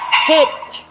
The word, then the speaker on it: Hitch: And her name is Hitch because it rhymes with bitch.